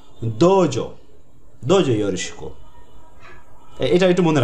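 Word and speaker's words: どうぞ: ওয়ার্ডের পর উটা থাকো, ওই উটার কারণে একটু টানা উচ্চারণ হয়, দোজো দোজো ইয়োরোশিকো। এই উটা হচ্ছে লং ভাওয়েল বলা হয়, লং ভাওয়েল যে টানা উচ্চারণ, দোজো দোজো ইয়োরোশিকো।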